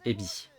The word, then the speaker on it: Evi: C'est Evi, mais ça se prononce Ebi. Ça s'écrit Evi, mais ça se prononce Ebi.